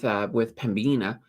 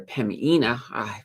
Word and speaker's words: Pembina: you could argue with Pembina. or sorry, Pemina. Got to be careful not to pronounce that B.